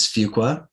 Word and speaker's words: Fuqua: It is Fuqua, and they taught us that. It was such a silly thing because it's pronounced in different ways.